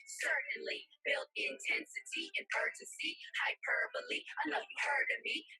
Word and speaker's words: hyperbole: what bewitching means the next literary device is hyperbole yep I said it right hyperbole it's a